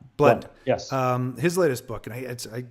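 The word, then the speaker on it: Blount: One of the things that I see, and I got this from your other buddy, Jeb, was it Blout? Is that how you say his name? Blunt.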